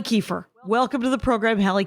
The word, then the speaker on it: Kiefer: So just so everyone knows, Halle Kiefer, it's Halle like Halle Berry, Kiefer like Kiefer Sutherland, and all of my fan base, Rangers know those two people.